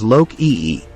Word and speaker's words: Loki: son in some versions Loki is an Old Norse name that is pronounced as Lok EE the name Loki means